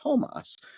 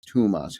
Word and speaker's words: Toomas: name was actually pronounced Tomas, as though it were as though there were one O. And it took me a while to internalize that because, you know, I've known him as Toomas Hendrik Ilves, and every